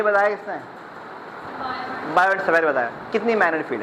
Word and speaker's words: Biot: इसमें T silent है। मैं बायोट नहीं कह रहा। सेवेट नहीं कह रहा। बायो एंड सेवे लॉ। ठीक है? टी साइलेंट है दोनों में।